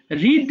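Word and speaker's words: read: participle কি বল দেখি রিড রেড রেড কিন্তু উচ্চারণটা আলাদা হলে বানানটা রিড থাকবে এটা কিন্তু ভার্ব থ্রি মনে রাখবে সবাই রিড এর past participle form রেড বাট বানান সেম আবার বল বাবা নিউজপেপার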